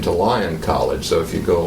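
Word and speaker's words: Lyon: was an identity so Lion of course means powerful and and up top on top there right well yeah it conjures that up even though it's spelled l yo n um and that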